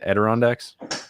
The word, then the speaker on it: Adirondacks: in the how do you say it again adirondacks yep that's it hey i said it right